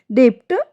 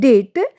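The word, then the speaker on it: debt: डेप्ट यह हमारा रॉन्ग है। एंड डेट ए राइट है क्योंकि इसमें बी साइलेंट है।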